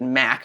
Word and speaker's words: Mach Loop: here today for the mock Loop now I think you guys pronounce it Mac we've heard a few